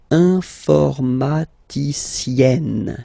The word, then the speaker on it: informaticienne: Okay, and you get the sound informaticienne, sienne. Remember, E and then double N, or then it could be double L or double consonant here. You open your E, so it's E, informaticienne. Okay, so I tend to insist a little bit.